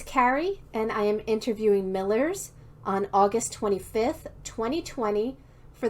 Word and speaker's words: Millers: histories channel thank you for joining me today millers all right thanks for having me appreciate it